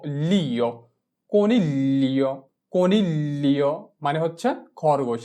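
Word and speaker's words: coniglio: চি ও কো, এন ই এল এ নীল, এল ই ও লিও, কনিলিও, কনিলিও মানে হচ্ছে খরগোশ। জি কে এল এ ধরে উচ্চারণ করব এবং এল এর সাউন্ডটা হবে অর্ধেক।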